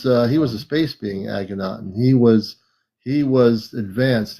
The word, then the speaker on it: Akhenaten: How do you pronounce that? Akhenaten.